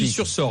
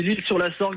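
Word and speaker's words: L'Isle-sur-la-Sorgue: l'Île-sur-Sorgue. Je connais, c'est magnifique. Normalement c'est l'Île-sur-la-Sorgue, mais c'est vrai qu'on a tendance à raccourcir nous un petit peu dans le sud et on dit l'Île-sur-Sorgue.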